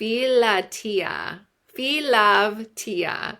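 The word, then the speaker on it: philautia: from now so this type of selflove f f lovea is how you pronounce ITA so it's p h i l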